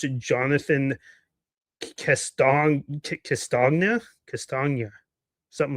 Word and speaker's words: Castagna: I believe you pronounce it Jonathan Castagna, something like that. It's hard. Would it be similar to lasagna? Castagna? Yeah, Castagna. Yeah, something like that.